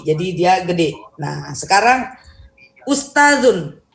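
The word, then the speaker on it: أستاذ: Nah, sekarang ustazun. Ustazun itu ini zal ya, zal. Ingat zal kecil, zal kecil ini adalah cara bacanya itu digigit ya, lidahnya di gigi paling depan ya.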